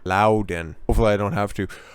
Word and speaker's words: Loudoun: Somebody very astutely pointed out that there's no extra N in there. I'll do my best to try to properly pronounce that, because words matter. Loudoun.